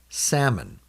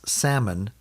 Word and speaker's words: salmon: Salmon. Notice that when you pronounce salmon, you don't hear the L.